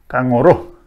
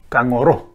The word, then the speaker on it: kangaroo: So this kogu yimitir word should be pronounced kangaroo, kangaroo.